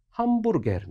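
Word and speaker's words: hamburger: 너희 글자 보이시죠 얘기 햄버거가 아니라 함 부르게 한 북의 다시 말해서 터키어로 여러분이 발음 나는 대로 쉽게 발음을 그대 로 해주시면 된다는 차원에서 제가 예시로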